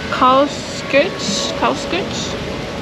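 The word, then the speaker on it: Karlskirche: It is called Karlskirch.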